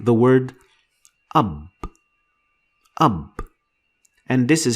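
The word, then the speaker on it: أب: We're going to make some simple words using these 4 letters, like the word ab. Ab. And this is how it is pronounced in English.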